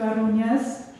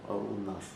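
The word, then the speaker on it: Arūnas: So, before I start my presentation, I would like just to say thank you to Arunias. Is that Arunias? Yeah. You need to pronounce the hard Arunas.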